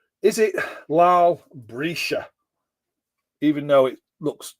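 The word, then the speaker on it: Breeshey: Is it Lal Brescia? Even though it looks like, oh, come on, focus. Try and do that again. There we go. Lal Brescia. Looks like Brescia, but it's Brescia.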